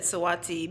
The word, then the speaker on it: Saweetie: It's Sweetie, but like I said Saweetie because there was like a long-standing joke between Tracy.